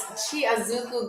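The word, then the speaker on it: tsy azoko: Chiazuku is T as in toy, SY, so TSY. Yeah, thank you. T as in Timothy, T as in, okay. So TSY space AZOKO. TSY space AZOKO for y'all who don't know.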